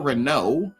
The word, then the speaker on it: Renault: of Michelle Rena or Renault, right? R E N. Renault. Renault. E A U. Yeah. Fine. Let's have every letter but O and pronounce it O.